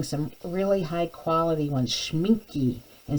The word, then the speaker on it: Schmincke: i'll be using some really high quality ones schmincke and sennelier is how you say that these